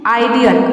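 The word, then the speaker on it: ideal: अगर ज़्यादातर डी आता है तो वहाँ पे आई को हम आई प्रोनाउंस करते हैं। आइडियल, आइडियल मतलब होता है आदर्श।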